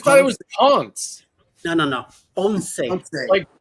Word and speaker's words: Ponce: Like Ponce de Leon, yes. But Ponce de Leon is just in the right way to say it. Ponce. Just an accent on the E at the end.